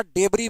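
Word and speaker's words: debris: बोलते हैं रेकेज, या डेबरी भी बोलते हैं। क्या बोलते हैं, डेबरी। एस साइलेंट होता है, डिबरी बोलते हैं।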